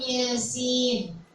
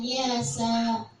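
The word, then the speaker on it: يس: Yasin. Yasin. Bacanya bukan yasa. Itu kan ya amasin. Kalau dibaca harokatnya fathah di atasnya kan? Bacanya kan jadi yasa gitu ya, nggak tahu ya. Bacanya padahal yasin.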